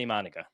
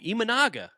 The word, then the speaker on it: Imanaga: Brandon Sproat for Shota Imanaga. No, Imanaga.